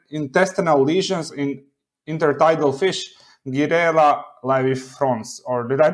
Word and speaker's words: Girella laevifrons: Yes, so your paper was titled Microplastic Ingestion Cause Intestinal Lesions in Intertidal Fish, Girella laevifrons, or did I pronounce the Latin name wrong? It's Girella laevifrons, but it has a common name in Chile.